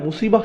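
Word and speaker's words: مصيبة: এরপর আবার শব্দটি শেষে রয়েছে তা মারবুতা, যে জন্য আমরা মুসিবাহ উচ্চারণ করি, মুসিব না কিন্তু।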